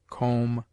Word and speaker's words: comb: It is mute in det, debtor, subtle, doubt, lamb, limb, dumb, thumb, climb, comb, womb.